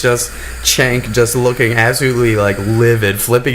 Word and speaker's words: Cenk: It's pronounced Cenk, whatever.